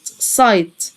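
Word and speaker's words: sight: حاسه من الحواس الرؤيه او الابصار اسمها السايت سايت زي ما احنا عارفين ان الدي والاتش في النص او في الاخر لا ينطقوا الا في كلمات قليله جدا حاجات قليله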